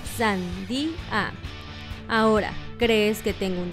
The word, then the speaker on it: sandía: La respuesta correcta es en tres sílabas, sandía.